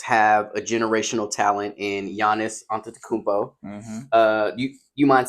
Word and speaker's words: Giannis: ahead and get that his name is GIS no y yan yan silent G okay it's Giannis damn I [ __